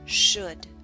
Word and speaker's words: should: book push put should note the L and should is silent should the next sound is